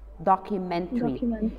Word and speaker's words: documentary: way the the pronouncing this suffix it differs from a word to another word the majority is airy but in some of them it's not that like like here documentary um we pronounce it differently and we will meet